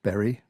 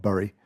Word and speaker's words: Bury: This is Bury St Edmunds Shopping Centre. I think it's pronounced Bury, not Bury. It's B-U-R-Y. I think in the UK we generally pronounce it Bury.